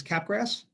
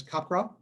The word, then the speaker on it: Capgras: So number one is Capgras, otherwise known as Capgras, if you're going to pronounce it right.